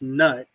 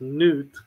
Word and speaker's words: Nut: name, and it's like if you look at it in English, it's Nut, but it's pronounced Newt.